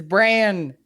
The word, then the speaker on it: Bran: It's Bran. Bran like Bran Flakes to embrace insanity.